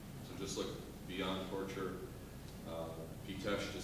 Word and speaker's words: Pitești: Pitesh is spelled P-I-T-E-S-T-I, and it's well worth your while if you want to learn about it.